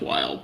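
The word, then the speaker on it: Wyld: So it's just pronounced wild. But you know we're not in the wild.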